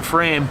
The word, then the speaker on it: Frame: It is Frame, right? Yeah, right? Like, no crazy pronunciation. It's not like my name. Like picture frame.